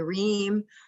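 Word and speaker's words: Rim: him quite a bit um yeah so uh rheem take it take it away all right um so my name is reem it's written r.i.m but it's pronounced dream uh so you can call me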